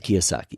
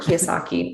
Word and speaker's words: Kiyosaki: and so i'm an idiot but it's robert kiyosaki yeah thank you robert kiyosaki my i'm also looking at the two books